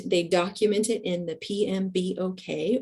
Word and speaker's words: PMBOK: document it in the PMB okay or we pronounce that pmbok that stands for the project management body of knowledge but you will hear it referred to by its acronym pmbok um and the methodology